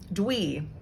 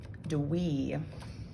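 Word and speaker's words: dwi: why are you watching this video okay two dwee d-w-i do we i love that one it sounds so funny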